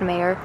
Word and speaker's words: Meaher: we really like it I believe it's pronounced mayor a-m-e-a-h-e-r it seems over